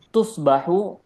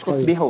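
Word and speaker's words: تصبح: Tusbahu. Ee di situ artinya tusbihu, maaf. Tusbihu. Tusbihu. Tusbih itu salah ya harakatnya.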